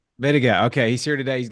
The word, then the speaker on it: Mittiga: Mittiga? Mittiga. Mittiga.